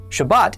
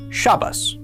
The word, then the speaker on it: Shabbat: So, in this course, we would pronounce the word Shabbat, but in the Ashkanazic dialect, they pronounce it shabas. You may have heard this version of the word shabas spoken before.